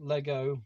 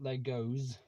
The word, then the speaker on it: Lego: First of all, Lego, not Legos. There is no S in Lego. Oh, there we go. There's a debate to get on with. It's not pronounced Legos.